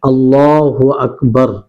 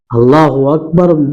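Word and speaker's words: الله أكبر: আর এটার সঠিকভাবে উচ্চারণ আমাদেরকে করতে হবে, সেটা হচ্ছে আল্লাহু আকবার, আল্লাহু আকবার, যে আল্লাহ সবচেয়ে বড়। অনেক মুসাল্লি ভাই এইভাবে উচ্চারণ করে থাকে যে আল্লাহু আকবার, যেটা ভুল। আল্লাহু আকবার মানে এর অর্থ হয়ে যাবে যে আল্লাহ কি সবচেয়ে বড়, আল্লাহ কি সবচেয়ে বড়, তাহলে এটা প্রশ্ন চিহ্ন হয়ে গেল।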